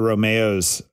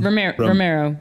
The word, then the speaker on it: Romero: Oscar Romeo's Romero work in our book club. Did I say it wrong? Romero.